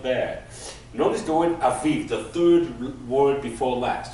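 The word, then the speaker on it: אביב: You know the city Tel Aviv, right? This is that word, Tel Aviv, this Aviv, okay? So, notice that the first syllable is a, and then we have viv, aviv.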